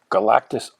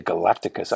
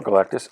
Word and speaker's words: Galactus: the origin of Galactus just like I used to say Rich Sanja I used to say Galacticus I don't know why he just seemed more impressive and needed more syllables I guess in store